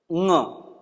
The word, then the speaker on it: ङ: इस वर्ण का उच्चारण करते वक्त थोड़ा सा ध्यान रखें कि ये कोई और ध्वनि नहीं है। शायद आपकी प्रादेशिक भाषा में या आपका कोई और अभ्यास हो, ये इसका उच्चारण है ङ। जैसे हम पंकज, अंकुर, अंकुश, जो अंकुर, ये इसके बाद अ का उच्चारण करेंगे ङ, ये इसका शुद्ध उच्चारण है।